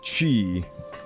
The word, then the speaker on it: qi: Also, I just realized sometimes they write it ki, sometimes they write it qi, and but every time they pronounce it chi.